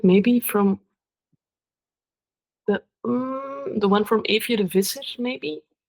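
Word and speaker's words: Eefje de Visser: Evje de Visser. Also really. Can you spell that for me? It's a EEFJE. Okay. Evje, and then DE, and then like Fisher, but in Dutch it's V Iser.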